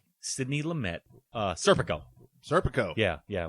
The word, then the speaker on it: Lumet: Uh, Randall thinks it's Lame, but Al Pacuccino calls him Lamett. I'm hearing it both ways, but I think Lamett gets it. I've never heard it pronounced Lame.